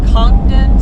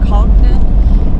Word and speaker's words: Congdon: I don't we we're we're in a disagreement on how to pronounce it it's conden co n d n or conden either way um it's